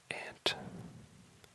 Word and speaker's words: aunt: First up is ant, and that is A-U-N-T. A lot of people pronounce it aunt, just fine, but in my part of the world, most people say ant.